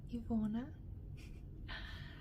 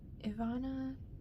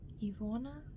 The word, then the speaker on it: Ivona: Here in the States, people say Ivana or Ivana. My name is It's Ivona. So where I'm from, it's pronounced Ivona. Here, people have a little bit of a harder time with that long O sound.